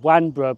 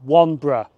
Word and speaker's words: Wanborough: Now at the start of the video I said this station is called Wanborough, but that's mispronounced. It's actually called Wanborough.